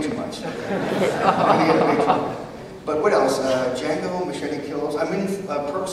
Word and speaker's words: Django: I'm in Quentin Tarantino's Western that's coming out, Django Unchained. Yeah. I'm in the sequel. It's Leonardo DiCaprio, Sam Jackson, Christoph Waltz, Jamie Foxx. Jamie Foxx is Django. The D is silent, if you've seen the preview.